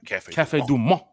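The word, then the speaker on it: Café du Monde: Cafe Du Monde.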